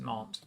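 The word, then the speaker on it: Nantes: city is not it's spelled n-a-n-t-e-s but it's pronounced not um and uh it's going to be critical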